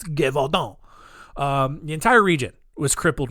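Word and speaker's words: Gévaudan: And the entire region of Gevaudan, I gotta say it like that, otherwise it's just gonna sound Gevaudan. That's how I'm gonna say it. No, it's Gevaudan.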